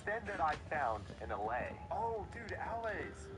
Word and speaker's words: allay: And through my explorations, it was then that I found an allay. Oh, dude, allays. It's pronounced allay.